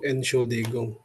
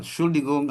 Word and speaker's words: Entschuldigung: Entschuldigung atau biasanya dia langsung bilang Entschuldigung, langsung N-nya tidak diucapkan.